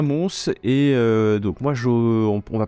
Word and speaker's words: Mons: Ça se Ouais, avec prononce. le S. À Mons. Ouais. À Mons.